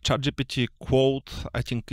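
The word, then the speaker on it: Claude: Like ChatGPT Quote. I think it's pronounced Quote. We actually discussed it before the... Yeah. I think it's Quote because it's French.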